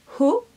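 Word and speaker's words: Haux: Et je vais prendre un autre fard de chez MAC aussi, il s'appelle Ho, il s'écrit H-A-U-X.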